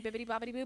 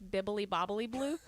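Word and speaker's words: Bibbidi-Bobbidi-Boo: with her fake wand saying bibbity boo but it's bibbly bobbly blue oh that's probably why my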